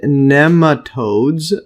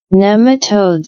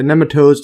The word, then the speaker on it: nematodes: And neatodes. Uh see the pronunciation. Here's a type of worm. Nematodes. Yeah. Nematodes.